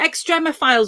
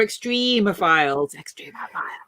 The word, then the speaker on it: extremophiles: about do you know is it extreme files or extremophiles to be honest either is good enough okay that's how it